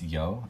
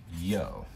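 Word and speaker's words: 曜: And this one is pronounced yo. It's actually a long O, so say it twice as long as you normally would. So instead of yo, it would be yo.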